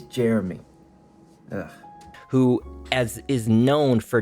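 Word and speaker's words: Jerami: is going to be Jeremiah Grant editor Javon here I don't know why I said Jeremiah his name is Jeremy it's literally pronounced like Jeremy I don't know why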